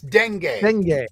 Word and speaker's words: dengue: by by the way it's Dengue Dengue is what it's how it's pronounced I just looked it